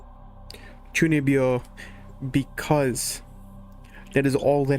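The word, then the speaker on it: chūnibyō: There is a anime specifically called Chunibyo because that is all that happens in the anime.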